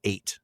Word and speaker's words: eyot: I think we pronounced it a before. It's actually just pronounced like eight. It's just eight.